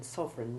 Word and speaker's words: sovereign: Now you tell us how long their foreign sovereign reigned there, and note that the first E in sovereign is almost but not quite silent.